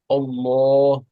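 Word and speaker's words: الله: uh in few places we pronounce the L of Allah very thick like Allah Allah in few places we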